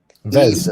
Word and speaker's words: Yves: Eves, I think.